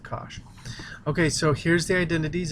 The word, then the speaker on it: cosh: Hyperbolic sine of x is actually sinh of x, and hyperbolic cosine of x is just cosh. It's like gosh, but with cosh.